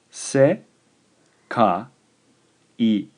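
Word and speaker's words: せかい: This is 3 syllables. The word is se, ka, I.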